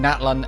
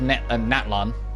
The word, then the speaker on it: Natlan: We got Fontaine, Natlan, and then Snezhnaya. But at least we now know that it's pronounced Natlan and not Natlan. Thanks. All right. There's more emphasis on the latter half of the word.